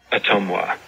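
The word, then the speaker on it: Ottumwa: And this is how you're supposed to pronounce it. As a native Iowan. Okay, maybe I should turn my volume up here. Otumwa.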